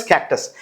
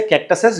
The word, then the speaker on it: cacti: Okay, so this is what is कैक्टस. और अगर आप एक से ज्यादा प्लांट्स को रेफर करते हैं, you will never say कैक्टसेस, you will say कैक्टी. The pronunciation is कैक्टी.